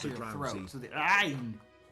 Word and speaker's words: ayn: Fun fact: the Arnold voice was how my Arabic instructors suggested how you figure out how to say the Arabic letter, the ayn. It's the ayn. It's the Arabic letter, the ayn. Got to say it that way.